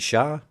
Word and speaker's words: Char: Even though I think they pronounce it Shar, it should be pronounced Char, I think, because it's a C, but whatever.